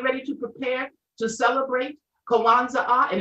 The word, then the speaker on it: Kwanzaa: When he added that third A, the pronunciation correctly for Kwanzaa really is Kwanzaa, Kwanzaa.